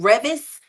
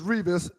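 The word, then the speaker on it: Revis: Um, and former quarterback, mostly with the New York Jets, Derell Revvice, turns 40 today. Is is Revas and he has to ever do it.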